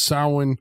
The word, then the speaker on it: Samhain: And we're told, of course, if you know this, that it's short for Samhain, which is apparently pronounced Samhain. Samhain, yes. That is the correct pronunciation.